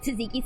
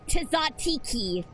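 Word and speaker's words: tzatziki: uh voice over said instead of taziki sauce it said tazatiki sauce and I'm just like you just made a million Greek ancestors cry with that pronunciation and then I quickly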